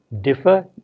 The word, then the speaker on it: differ: have the two words differ d-i-f-f-e-r and defer d-e-f-e-r with two different meanings whereas one differ is stressed on the first syllable defer is stressed on